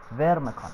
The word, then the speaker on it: Pharmakon: اليوم يا شباب ويا جماعة جبنا لكم شرح أماكن تجميعات مرحلة اسمها فورميكون. معلش اسم الكلمة شوي نطقها صعب فما علينا. فورميكون، البي والإتش لما نجون مع بعض يصيرون في فيرميكون.